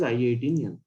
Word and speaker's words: I18N: Instead of pronouncing that as internationalization, this is an industry standard term that is pronounced as I18N.